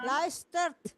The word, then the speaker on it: luistert: I luister Nee, luistert. Bukan luistert. Nah, luistert. naar music. Ini apa bacanya?